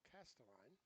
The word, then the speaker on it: Casteline: believe I know, is unfortunately mispronouncing name. It's Casteline.